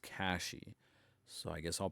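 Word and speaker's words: Cachy: I always want to pronounce it Ka-chi, but I guess it's Ka-shi OS. Um or at least I more most frequently I hear it pronounced Ka-shi.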